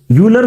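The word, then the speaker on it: Euler: जो एक्सप्रेशन है उसको यूलर फॉर्मेट में लिख लें, या ऑयलर फॉर्मेट, जो भी आप प्रोनाउंसिएशन करते हैं।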